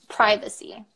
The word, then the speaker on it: privacy: how about this one privacy yeah cuz I actually say it the American Way but the typical British Way would be privacy privacy privacy I would